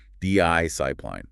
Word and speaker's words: discipline: The stress the emphasis is clearly on the first syllable. Di sipline. Make that first syllable stand out.